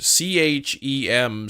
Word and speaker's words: chem: I'm not gonna change it to K-E-M, because in English, C-H-E-M spells chem.